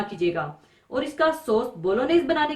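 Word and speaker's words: Bolognese: Italian dish है और इसके सॉस को बोलोनेस प्रोनाउंस किया जाता है जी इसका साइलेंट होता है और इसमें बहुत ज्यादा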